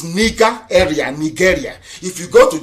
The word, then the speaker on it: Nigeria: long as nigeria does proper pronunciation not knowing nigeria is the nigeria it sounds a bitter okay the proper name is nika area nigeria if you go